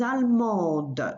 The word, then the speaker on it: allemande: And the feminine, just add an E. Je suis allemande. So same principle, you add an E and sound the letter that comes before in the feminine.